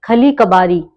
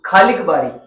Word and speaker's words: खालिक बारी: अच्छा, अगर बात करें अमीर खुसरो की, तो अमीर खुसरो की खली कबारी सुना होगा। खालिक बारी, खली कबारी, हमारे उसमें खाली कबारी। ये गलत प्रोनाउंसिएशन लिखा हुआ है, खालिक माने होता है गॉड, बारी यानी किताब, द बुक ऑफ गॉड।